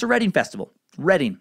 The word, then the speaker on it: Reading: Quick pronunciation update from a few suckers. Britain's Reading Festival, as I said, where Nirvana headlined, is pronounced a Reading Festival. Reading, not reading like it's spelled.